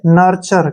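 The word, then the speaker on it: nurture: आर ई से र नर्चर क्या पढ़ेंगे इसको नर्चर ऐसे लिखेंगे इसको नर्चर ठीक है टीयू जो है च हो जाएगा यहां प नर्चर नर्चर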